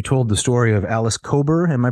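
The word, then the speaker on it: Kober: the way you told the story of Alice cober am I pronouncing her name correctly yes yes the story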